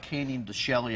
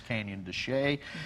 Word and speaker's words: Canyon de Chelly: yes we'll start with canyon de chelly which is one and it's looks like canyon de chelly if you see written out so some people pronounce it like that but it's canyon de chelly and this is one